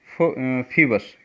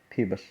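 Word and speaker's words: Phoebus: तो इसको बोलेंगे फीबस। क्या बोलेंगे? फीबस। इसका जो प्रोनाउंस होगा फीबस।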